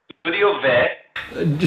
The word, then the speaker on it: Studio Ve: Studio Ve.